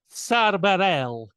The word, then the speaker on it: Bareilles: And then Sara Bareilles. That's how they say it. Barel.